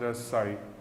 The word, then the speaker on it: psi: symbol Sai that is written as psi pronounced si so Sai is the amplitude of